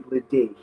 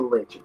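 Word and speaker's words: Ledaig: So even though people will look at it and say Ledeich, it's pronounced Lechic.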